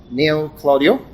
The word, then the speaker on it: Neil Claudio: Neil Claudio. Am I pronouncing it correctly?